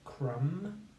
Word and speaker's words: crumble: So let's come back together, and we have crumble. So again, the B sound is separate. It's part of the second syllable, isn't it? So we can say krum, the M spelling, bulb, bull, crumble. So think about where, if